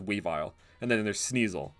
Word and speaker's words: Weavile: Do you guys pronounce it Weavile or Weevil? I think it's Weavile, and then there's Sneasel, right?